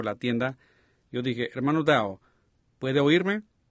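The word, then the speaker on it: Daugh: Yo dije, hermano Dow, ¿puede oírme? Y él me miró. Not really in his name, he's a German, D-A-U-G-H, and I pronounce it Dow.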